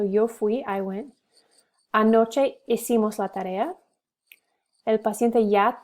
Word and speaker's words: hicimos: So it's hice, hiciste, hizo, hicimos, hicieron. So you don't pronounce the H.